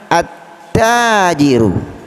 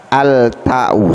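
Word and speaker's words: التاجر: Kenapa alif lam ta'rifnya tidak dibaca? Karena bertemu dengan huruf syamsiyah. Mana huruf syamsiyahnya? Huruf ta, ya. Jadi salah kalau kita membacanya dengan cara al-ta'u, salah, ya. Karena alif lam ta'rifnya tidak boleh dibaca dengan terang atau jelas, ya.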